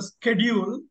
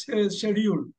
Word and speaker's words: schedule: super schedule okay schedule Americans pronounce this as a schedule right British people say this schedule schedule there you go